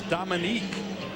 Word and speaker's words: Dominic: Well, Dominic, it's Dominic when you look at it spelled. It's Dominique when you pronounce it.